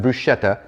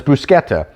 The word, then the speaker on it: bruschetta: So first of all, yeah, it is bruschetta. It's not bruschetta. That's kind of the American pronunciation, but it's bruschetta.